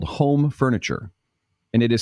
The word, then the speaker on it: Hom: We have a furniture store that's based up here in Minnesota called Home Furniture, and it is spelled H-O-M. So for my kids and I, it's Hom Furniture.